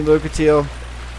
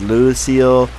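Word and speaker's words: Lucatiel: me Luka teal and people pronounce her name so wrong like I get I get crap for mr. miss reading stuff but I've heard so many people mispronounce her name she even tells you her name is Luka teal I've heard Lucille I've heard all kinds of random names for her like there's our Farrell's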